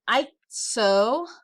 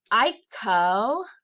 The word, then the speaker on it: icosagon: And for those who might be interested, a 20-sided figure is an isogon. Cannot say it right. Icosagon. Icosagon.